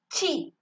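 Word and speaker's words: ち: then like just like a hatch this is pronounced as chi chi so fourth line third letter is itsu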